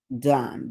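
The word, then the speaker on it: Dawn: It's not like the man spelled done. D O N. Dun. D A W N.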